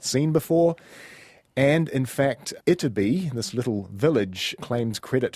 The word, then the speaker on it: Ytterby: So there was, and is, I guess, a small village in Sweden that goes by the name of Ytterby. And forgive my Swedish pronunciation there, but it is spelt Y-T-T-E-R-B-Y.